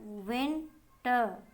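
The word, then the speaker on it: winter: Number 2 है हमारा word विंटर, WIN विन, TER टर, विंटर। जो एंड में आर आता है उसको हम र करके नहीं बोलते, नहीं प्रोनाउंस करना होता है र करके, ट, विंटर, ठीक है।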